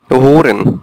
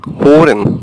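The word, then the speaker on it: hören: যে ম্যা ইউজ করি, তো অনেকটা এরকম হবে উচ্চারণগুলো, ঠিক আছে? আর এটা হচ্ছে উ, এই টাইপের উ, হোরেন, হোরেন, ঠিক আছে এরকম হোরেন। এখানে এইচ ও উমলাউট আর ই এন, হোরেন, হোরেন মানে হচ্ছে সোনা।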